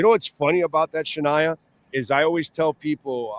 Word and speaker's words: Sh'Nia: Hi, I'm pronouncing it right. It is Shaniah.